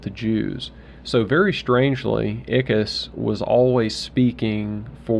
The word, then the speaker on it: Ickes: Harold Ickes. Ickes is how it's pronounced, I think.